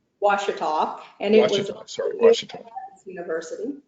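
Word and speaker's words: Ouachita: And the university, which is very important in your childhood and through college, Wachita, is that, did I pronounce it correctly? Washita, and it was Washita University.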